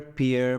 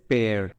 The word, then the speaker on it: pear: a lot of people read it as beer peer peer but it's not beer it is pear learn the right pronunciation of this by looking at the pronunciation